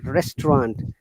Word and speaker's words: restaurant: an expensive restaurant remember restaurant is a french word the last and should be pronounced through the nose like croissant restaurant randible okay then he